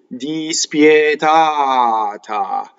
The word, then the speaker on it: dispietata: Dispietata. So the ah before the T is what you want to elongate to get to single T. Dispietata.